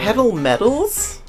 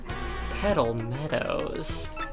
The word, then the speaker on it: Petal Meadows: Meadows huh petal medows I'm pretty sure every time I've said that I've pronounced it as Metals cuz Meadows like such a difficult World petal medals petal Meadows petal Meadows petal met